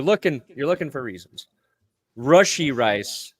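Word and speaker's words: Rashee Rice: you're looking for reasons rushy rice not RI okay okay you know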